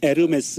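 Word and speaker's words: Hermès: 뭐라고 해야 되죠 4 아 그냥 꿈을 이씨라면 에르메스 입니다 이렇게 쉽 발음이 안 된답니다 그럼 이에요 h 가 발음이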